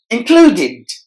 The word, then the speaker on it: included: that sound means included included there are three syllables in this word and we have to stress the middle part hello and just focus on the last part of this word d-e-d must be pronounced as did included opponent opponent essential